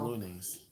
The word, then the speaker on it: pantalones: pantalones. It's pantalones. Okay, see, I can't even say that. You say it like Looney Tunes.